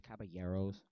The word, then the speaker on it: Caballeros: Hi, so we're going to be doing a movie review of the Disney's The Three Caballeros, or it's pronounced Caballeros, whatever.